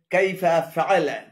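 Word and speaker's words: كيف فعل: এখানে কাইফা এবং আলা উভয়টি ভুল উচ্চারণ। শুদ্ধ উচ্চারণ হবে কাইফা ফাআলা, কাইফা ফাআলা।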